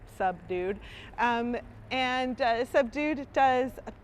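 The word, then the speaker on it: Subdude: does a few different and that's spelled s-u-b-d-u-d-e like a sub-dude um and uh sub-dude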